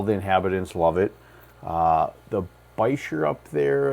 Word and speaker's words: Bichir: By the way, Bichir, Biker, however you want to pronounce it. Kind of had a funny kind of online conversation with someone, and yes, I think the correct way to pronounce it, if I looked it up right, is Bichir. I've heard people call them Bichers or Bikers.